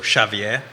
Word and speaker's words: Xavier: Xavier in such a long time, but Well, that's it's that's in the way.